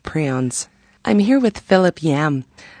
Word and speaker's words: prions: It's spelled prions, but it's actually pronounced prions, the way the inventor of the term calls it.